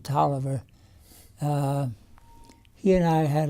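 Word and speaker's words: Taliaferro: was expelled talia farrow but we pronounce it toliver uh he and i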